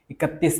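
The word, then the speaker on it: इकतीस: സ്ലോയിൽ ഉച്ചരിക്കുക അവന് ഇക്തിത്തീസിനൊക്കെ ചിലർ ഉച്ചരിക്കും ഇക്കത്തിസ് ഇക്തിത്തീസിന് രണ്ടും കണക്കാണ് കുഴപ്പമില്ല ഓക്കേ ഇക്കത്തിസ് ആണ് ഇത് വായിക്കേണ്ടത് യഥാർത്ഥമായ ലെറ്റർ ഓക്കേ പിന്നെ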